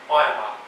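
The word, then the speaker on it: Ahioma: These boats were withdrawing D Company from the 61st Battalion from their outpost at Ayama. I know it says Ahiyama, but apparently it's pronounced Ayama.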